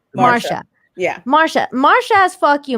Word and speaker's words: Marcia: Marcia.